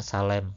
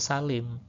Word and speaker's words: Salim: Misalnya salem itu harus dibaca salim ya.